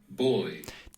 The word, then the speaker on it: Buoy: To me, as a German speaker, boy sounds absolutely like boy. I don't know. I don't see any difference. But anyway, it's pronounced, of course, B-U-O-Y, like in the nautical sense.